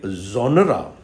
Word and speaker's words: genre: it sometimes you know very often people take it as one syllable which is wrong there are two syllables here we pronounce it like genre genre genre so there are